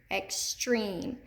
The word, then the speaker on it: extreme: remember it extreme extreme extreme where do we hear that accented long e extreme extreme it's in the second syllable extreme and we've got